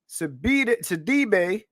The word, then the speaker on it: Sidibe: So about a year before she started filming Antebellum with your girl Janelle Monáe, Sidibe, that's how you say her name.